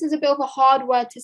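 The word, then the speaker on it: ح: students earlier on that this letter here, ha, comes from the middle of our throat. When we say it, we should use the middle of our throat to pronounce this letter.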